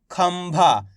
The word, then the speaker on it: खंभा: खाम अनुस्वार की मात्रा खम, भा मा की मात्रा भा, तो मिलके बन जाएगा खंभा। इस तरीके से पढ़ेंगे, यानी कि आधा माँ का उच्चारण निकालेंगे, खंभा।